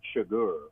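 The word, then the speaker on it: Chigurh: obviously a social how how do they pronounce his name in the movie Anton shagar suar okay did you call him sugar yeah I thought it was sugar it's it's it's it's written really weird it's like c h u r g I'm like what I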